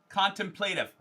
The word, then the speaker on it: contemplative: break by the way contemplative is four syllables contemplative thank you you got